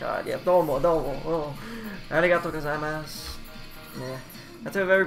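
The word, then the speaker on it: ございます: And then the gozaimasu is pronounced like arigato gozaimasu. Yeah. If I remember right, you don't say the U on the end.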